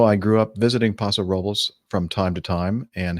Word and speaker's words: Paso Robles: stop at Paso Robles he says pronounced Robles not rubbles yeah I know that